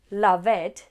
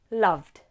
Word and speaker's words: loved: This is the D sound. We don't, again, add an extra syllable. It's not love, loved. It's love, loved.